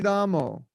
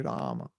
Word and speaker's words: Rama: So, Hare Kṛṣṇa, Hare Ramo. No, it's Hare Krishna, Hare Rama. So even in India, we're mispronouncing.